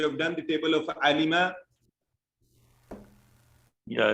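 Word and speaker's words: عَلِمَ: Alima. Excellent. Somebody said alima. Please No. remember, pronounce it right. It is alima, like samia. It is not alama.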